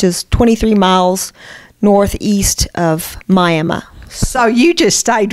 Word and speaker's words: Miami: I've been serving the First United Methodist Church in Miami, Texas. It's pronounced Miami. The people there insist. Really? It looks like Miami, but I learned Miami.